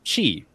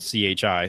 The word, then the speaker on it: chi: In Greek, the language of the New Testament, the word Christos, or Christ, begins with the letter X, or chi, which is spelled C-H-I, so I'm saying chi.